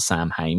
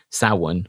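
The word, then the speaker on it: Samhain: speech about and I I won't it's not Sam H is it? It's Sum. Sen, that's it. Sin, which is the proper pronunciation um of Halloween.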